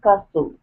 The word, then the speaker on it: castle: Old castle. Are you saying castle or castle? Uh castle. No. No. Castle. That's right. The C is silent. The C is sorry, the T is silent.